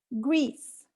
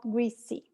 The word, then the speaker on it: Greece: and only one syllable gracia greece two syllables in portuguese one syllable in english it's not greasy and what happens when